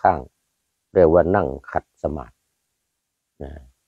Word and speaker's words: สมาธิ: นั่ง ขัด สมาส นะ แต่ เวลา เขียน นี่ เขียน เป็น สมาธิ นะ อ เขียน เป็น สมาธิ แต่ เวลา ออก เสียง ออก เสียง ว่า สมาส อืม นั่ง ขัด สมาส คือ นั่ง ขัด สมาธิ ไม่ ออก ไม่ ออก ว่า สมาธิ อ่า ก็ คือ นั่ง